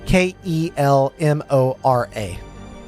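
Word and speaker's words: Kelmora: K E L M O R A.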